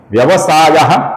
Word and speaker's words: व्यवसायो: अब यहां पर ध्यान से देखिए, पहला नाम है व्यवसायः, इसका जो विसर्ग है इसके आगे जो नाम है व्यवस्थानः उसका वो आया हुआ है, इस कारण से इसका ओ हुआ है, व्यवसायो हुआ है।